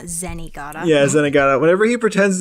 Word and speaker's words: Zenigata: he zag yeah sorry I think it's zenaga not zenigata yeah zenaga whenever he